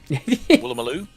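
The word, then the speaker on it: Woolloomooloo: Waloo maloo. Willoo. Will there's four there's four pairs of O's and they're all pronounced differently.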